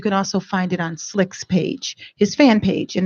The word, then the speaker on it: Slique: And also you can also find it on Slick's page, his fan page. And his name is spelled Slique, Slick.